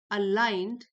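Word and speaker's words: aligned: येट फिर भी this perception is rarely अलाइंड, ji silent है, अलाइंड विद रियलिटी।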